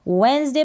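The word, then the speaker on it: Wednesday: तो इन सारी स्पेलिंग्स में डी साइलेंट है। वेंसडे पढ़ेंगे, इसको बैज पढ़ेंगे, इसको प्लेज पढ़ेंगे, इसको ब्रिज पढ़ेंगे, डी सभी में साइलेंट है।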